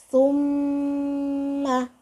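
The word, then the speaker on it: ثُمَّ: Jadi cara bacanya, setelahnya kita baca tapi masuk ke mim dengan cara ditahan. Summa. Seperti itu. Summa. Karena si mim ini huruf istimewa, dia bertasdid. Contoh yang kedua, nun bertasdid.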